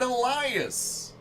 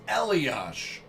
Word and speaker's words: Elias: Dominator heuk hammerli and Elias I'm sorry elos forgive me Patrick it's elos can't believe I said